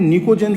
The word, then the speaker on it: निकोजेन: P silent है, इसको क्या बोलते हैं, निकोजेन फैमिली।